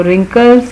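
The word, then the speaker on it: wrinkle: फिर रिंकल्स, जो चेहरे पे झुर्रियाँ पड़ जाती हैं उनको रिंकल्स कहते हैं, रिंकल, इसमें भी डब्ल्यू साइलेंट है।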